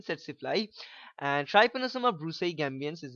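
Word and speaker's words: tsetse: see the vector is setly look at the spelling look at the pronunciation again setly and trios bru ambian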